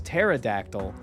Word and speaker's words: pterodactyl: what I'm like the the p is silent it's pterodactyl like terasa I was